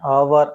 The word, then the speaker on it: hour: For example, an apple, an elephant, an hour, hours start with silent H and sounds like over. That is a vowel sound.